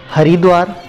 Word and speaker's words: हरिद्वार: वैष्णव संप्रदाय के लोग इसे हरिद्वार बोलते हैं और शैव संप्रदाय के लोग इसे हरद्वार बोलते हैं। तो दोनों संप्रदाय के लोग इसे अपनी सुविधा अनुसार उच्चारण करते हैं।